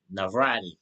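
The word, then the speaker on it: Navarrete: Navrati.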